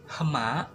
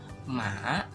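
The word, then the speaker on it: หมา: Nah, kan kalau misalkan dibaca hohibnya jadi gak enak ya, misalkan hema, hema, gak enak ya. Jadi hohibnya tuh gak dibaca, jadi dibacanya ma, ma, artinya anjing.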